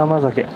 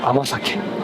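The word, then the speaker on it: 甘酒: Sasazuru Amazake. This has to be good. Non-alcoholic. Turns out it's pronounced "amasake," not "amazake."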